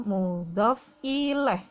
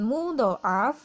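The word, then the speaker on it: مضاف إليه: jadi mu love ileh sekali lagi bacanya mudhof ilaih bukan mudhoaf bukan mudhof ale atau mudhof ilahi atau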